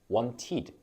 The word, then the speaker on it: wanted: 추가하시면라고 발음을 해 주시면 돼요 예를 들어서 want wanted 그래서 e 발음으로 발음을 해 주시면 됩니다 그리고 2로 끝나는